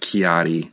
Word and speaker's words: Ki-Adi: It's like it's almost pronounced Ki-Adi, like K I A D I, I believe.